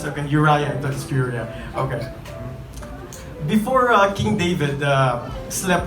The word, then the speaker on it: Uriah: Before Uriah, is that how you pronounce it? Okay, Uriah, that's Uriah.